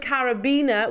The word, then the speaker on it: carabiner: um say the word carabina with the this is the one I was talking about earlier on with the emphasis on the bin syllable like Arab there you go carabina